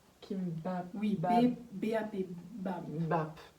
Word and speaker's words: kimbap: Et là on a commandé chez Kimbap. Kimbap. Oui, Bap. B-A-P, Bab. Bap. C'est dur à prononcer.